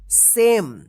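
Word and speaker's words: same: ठीक है ना क्योंकि ई जो है ना साइलेंट रहता है ठीक है नाना जब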